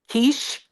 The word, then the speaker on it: quiche: Quiche?